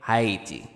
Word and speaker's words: Haiti: the world is Haiti okay heti or HEI you know that's how you say it actually say it um just